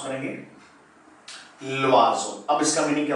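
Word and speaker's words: l'oiseau: अब इसको हम कैसे प्रोनाउंस करेंगे, ल्वाजो।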